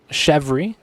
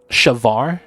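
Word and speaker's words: chèvre: But the E with accent, it's pronounced like the A sound.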